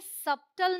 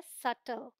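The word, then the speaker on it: subtle: ये है डाउट और ये सबटल नहीं है ये है सटल ऑलराइट तो यहां पर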